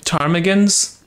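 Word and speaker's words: ptarmigan: I can pronounce it tarm tarmigans usually the p is silent on those things orange which is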